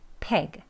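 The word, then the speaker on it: pig: 피그 이렇게 하시면 안 되고 peg, peg. 약간 peg 소리가 들리는 peg 발음으로 하시는 게 맞습니다.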